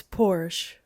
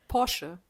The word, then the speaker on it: Porsche: It's Porsche. Yeah, okay. How do you say it? Porsche.